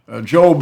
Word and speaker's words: Job: the Book of Job job is spelled like job but it is the Book of Job there was there's a